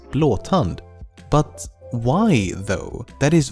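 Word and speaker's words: Blåtand: name Bluetooth is just an anglicization of the original Scandinavian spelling and pronunciation which is blon but why though that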